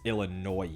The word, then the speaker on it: Illinois: bit of a mess if you pronounce the s in Illinois people here kill you well that's wild that's wild everybody knows it's Illinois the SS silent but